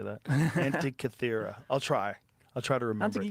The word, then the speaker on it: Antikythera: Oh, the Antikythera That's mechanism. it. I never could say that. Antikythera.